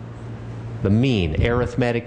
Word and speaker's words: arithmetic: Now, we call this kind of average the mean, arithmetic mean. The word arithmetic is pronounced that way when it's a noun. It's pronounced arithmetic when it's an adjective.